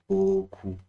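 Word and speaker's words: beaucoup: Or something like boku.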